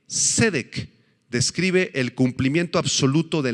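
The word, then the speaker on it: צדק: perdurable esta palabra justicia cedec en hebreo s e d e e q con acento en la primera e cedec describe el cumplimiento absoluto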